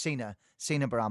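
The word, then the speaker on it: Sina Bahram: Sorry, it should be pronounced Sina Baram, apologies.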